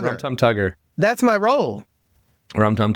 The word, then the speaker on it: Rum Tum Tugger: I'm going to be Rum Tum Tigger. Well, how do you say it? Tugger. Rum Tum Tugger.